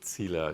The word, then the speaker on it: Zieler: um Charlotte and Patricia thanks for the perfect pronunciation of my last name which is quite rare I have to say cila is is not not I don't hear that